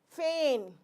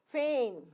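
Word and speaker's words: feign: consign sign or consign Fain f e i g n g will not be spoken Fain foreign slight I will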